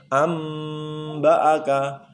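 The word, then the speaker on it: أنبأك: Cara membacanya langsung menjadi mim. Amba'aka, amba'aka. Seakan-akan hamzah mim ba, hamzah mim sukun ba, seakan-akan, tapi tidak. Tulisannya tetap hamzah a nun sukun ba aka, tetap sama. Tapi cara membacanya amba'aka.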